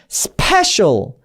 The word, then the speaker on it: special: 너무 피 발음으로, 피읍 발음으로 간다기보다는 쌍비읍 발음과 피읍 발음의 중간 정도로 해서 special, special, special. 받아 적자면 피라고 받아 적을 것 같은데 쌍비읍 소리인데 라고 해도 말이 돼 라는 느낌이 드는 그 중간 정도로 발음을 해주시면 훨씬 더 예쁜 영어 소리가 납니다.